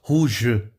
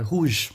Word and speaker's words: rouge: Quando o E tá no final, igual no inglês, você não pronuncia o E, viu, gente? Então não vai falar rouge, né? Não, é rouge. Morreu ali, som do G, acabou. École.